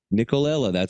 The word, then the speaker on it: Nicolella: In order to salvage the scene, the show's director, John Nicolella, Nicolella, I said it right, came up with a creative situation.